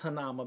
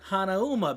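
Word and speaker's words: Hanauma: where they usually go snorkeling and so it's pronounced hanama Bay right well my dad he would call it hanuma Bay so I always grew up calling it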